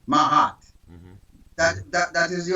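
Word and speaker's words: Maat: spirituality is the concept of mahat MH it it's spelled m a a t mahat that that that is the original concept of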